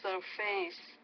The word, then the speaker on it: surface: remains under the water surface. Okay, I would say the stress is on more surface, so stress on that first syllable, not the second.